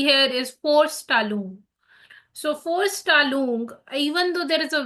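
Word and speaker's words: Vorstellung: is force Talon so for tal even though there is a v I'm saying for tal because that's Force right that's Volkswagen right so in German every V is actually f pronounced F so for stal means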